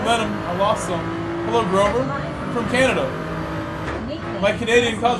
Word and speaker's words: Grove: my name is not Rover it is Grove it's not Rove a lot of people struggle with my name they call me Groove I get a lot of double O pronunciations like what's up Groove